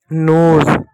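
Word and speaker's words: nose: देखो अगर कभी भी एस के बाद इ हो। कभी भी एस के बाद इ हो तो एस को आप हमेशा ज पढ़ोगे। ठीक? जैसे एग्जांपल तौर पे दे। जैसे एक शब्द है एन ओ एस ई एन का न हो गया ओ है ओ के बाद कोसोनेंट है कंसोनेंट के बाद इ है तो ओ की मात्रा और एस के बाद इ है तो यहां ज होगा नोज नोज नहीं नोज ठीक है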